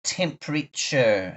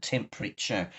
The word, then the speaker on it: temperature: And then it's spelled very funny. We say temper and then it is spelled very funny. But remember that we say temper. So let's spell the word quickly. Peter. Here we go. Spell that for me. T. T E M P E R A I A T U R E. Well done. But we say temperature.